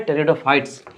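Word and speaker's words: Pteridophytes: ना उसका नाम है टेरिडोफाइट्स अब इसमें तो पी साइलेंट होने वाला है सबसे पहली बात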